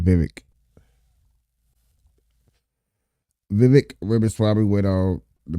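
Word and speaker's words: Vivek: name correctly now because he said it's like cake so you said Vivic Vivic riab went on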